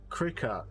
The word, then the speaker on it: Cricut: wool but wood not wool okay okay it's pronounced cricket oh well cricket whatever cry cut it looks